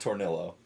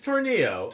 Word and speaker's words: Tornillo: Well, if it's a double certainly up, certainly not Tornillo. it's not. It's Tornillo. Like it's Tornillo. like pollo, you know, Pollo. It's like pollo.